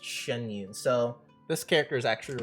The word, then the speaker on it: Xianyun: It's pronounced Xianyun.